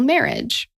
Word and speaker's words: Merhige: you clicked on it it's not spelled like marriage but it's pronounced like marriage and I was like